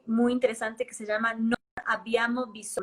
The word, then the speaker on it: Non abbiamo bisogno: Hay una encíclica muy, muy interesante que se llama Non abbiamo bisogno, pronunciación, con doble B, non abbiamo, significa no tenemos necesidad.